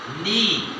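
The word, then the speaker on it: knee: नी। के को साइलेंट कर दें, एन डबल ई, नी।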